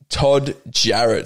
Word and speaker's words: Todd Jarratt: my guest today is todd jarrett should i pronounce that right yeah let's go oh it sounds like it's spelled the amount of names